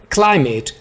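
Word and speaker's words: climate: guilt is quite apprentice क्लाइमेट इसको क्लिमेट नहीं बोलना क्लाइमेट आबोहवा द सिटी हैज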